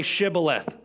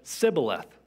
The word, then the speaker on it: Shibboleth: When he said, 'No,' they said, 'Then say Shibboleth.' And he said, 'Sibboleth,' for he could not pronounce it right.